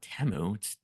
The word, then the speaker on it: Temu: One, I realized that I've been saying it wrong the whole time. That's number one. Because they said Temu. I'm like, what, Temu? I thought it was Temu the whole time.